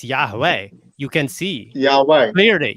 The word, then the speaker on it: Yahweh: It's not Yahweh Shai, it's Yahweh.